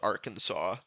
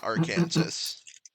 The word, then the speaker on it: Arkansas: yesterday where it was uh Arkansas must be pronounced Arkansas not Aransas u i did Louisiana youi explain some of